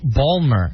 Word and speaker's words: Baltimore: heard the state merlin they also do balmer instead of the word baltimore yeah they actually have condensed